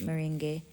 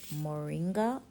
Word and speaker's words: Moringa: Ben in different countries in Jamaica most people call it Ming however it's pronounced moringa according to the spelling so for this video